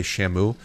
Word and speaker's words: Shamu: you pronounce it's not you can't just say Shamu you got to say Shamu you got to really put the emphasis on the o just a bit heads